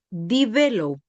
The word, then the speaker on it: developed: rich, la palabra wealthiest, la palabra largest, la palabra national y la palabra developed. Developed aquí termina en una d que es como una t en inglés, pero la e no se pronuncia, así que traten de hacer el ejercicio.